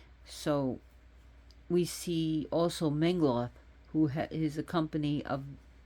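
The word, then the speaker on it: Menglöð: associate with Mengloth is Menglod, with the D with the line through it, which is a alphabet actually. It's old time, which was Mengloth. That's why it's pronounced like that, not Menglod, but Mengloth.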